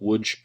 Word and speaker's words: Łódź: That's the name of the town, spelled Lodz, with lots of diacritical marks on those letters. It's pronounced Łódź.